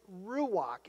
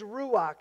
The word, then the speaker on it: ruach: And the word is ruach.